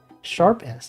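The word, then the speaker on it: ß: It's called the Ezet. Or the Sharp's S. Sharp S. It's just pronounced Sharp S.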